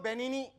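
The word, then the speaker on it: Benigni: तो कहता हूं कि रोबर्टो बेनी बेनी उसके नाम में जी साइलेंट है जी साइलेंट है जी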